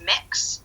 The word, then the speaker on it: Mx: MX? MX, yeah. It's pronounced mix.